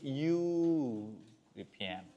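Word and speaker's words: European: লাস্টেরটা, ওই যে ইউরোপিয়ান। ইউ যদি ইউর মতো উচ্চারণ হয়, যদিও এখানে ইউ না, এখানে আছে কি ই, কিন্তু পুরো শব্দটাই মিলে উচ্চারণ হচ্ছে কিসের মতো?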